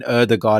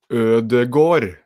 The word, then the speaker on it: Ødegaard: But the final part is Gård, Ødegaard. Okay. Interesting. So instead of having a sound, you're having sort of an O sound. So it's Ødegaard, Martin Ødegaard.